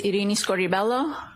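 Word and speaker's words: Irini Scordi-Bello: My name is Iini Scorelloo. That's spelled I R I N I S C O R D I hyphen B E L L O.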